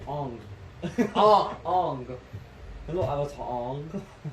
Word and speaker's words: Aang: and it was that's not even Aang. Ong.